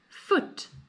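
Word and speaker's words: voet: Foot. Sounds quite similar in English to foot, but it's spelled totally different.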